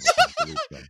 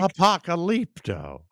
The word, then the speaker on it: Apocalypto: I love Apocalypto. You have to say it right, Mike. Apocalypto.